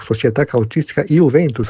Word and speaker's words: Società Calcistica Juventus: Mas não é o Juventus que nós falamos antes, é a Società Calcistica Juventus, ou Società Calcistica Juventus, para ficar na pronúncia italiana correta, contra o América Futebol Clube.